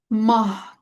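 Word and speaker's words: ماه: Ve eee burada mah diye okunur.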